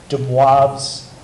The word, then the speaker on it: de Moivre: And again, this is called de Moivre's theorem.